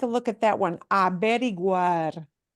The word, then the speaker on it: averiguar: Averiguar. Averiguar. There we have to pronounce that G-U-A, and those U-A combinations and A-E combinations, and they're kind of tough ones.